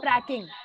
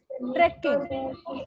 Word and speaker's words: trekking: It is not tracking. It is trekking. The spelling is Trekking. Trekking. Tracking is Tracking. So you must say it correctly.